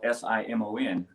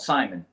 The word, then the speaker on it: Simon: actually pronounced simon so it's french it's got a like a french twang to it so uh when i